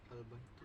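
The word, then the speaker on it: البيت: Kalau tanwin dibuang, Al-baitu.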